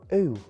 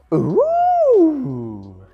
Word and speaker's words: OOOOO: But how you say it is totally up to you. I go, ooh. But other pronunciations include, ooh, oh, ooh, ooh, ooh. Eh? However you want to say it, we don't mind as long as you know that it is 5 O's.